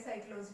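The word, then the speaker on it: psychology: साइक्लोजी, इसी तरह से वर्ड आप देखिए कि ठीक एस से पहले पी साइलेंट हुआ, लिखेंगे जरूर इसे। कई स्टार्ट करते हैं तो सी से लिखते हैं साइक्लोजी को, वो भी गलत है।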